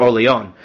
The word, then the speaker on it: Orleans: Yes, Orleans. That's how you pronounce that, right? I've heard people pronounce it in all types of weird ways. Orleans or Orleon, right? Whatever. It's like New Orleans.